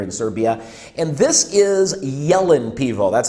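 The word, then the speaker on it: Jelen: popular beer here in serbia and this is yellen pivo that's how you pronounce it yellen and yellen in english language is a deer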